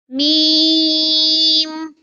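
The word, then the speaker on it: م: touches the front roof of the mouth to pronounce la this is meme kindly read after me meme theme comes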